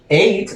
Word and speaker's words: ate: Esto, ate, lo vamos a pronunciar como el número 8, ¿ok?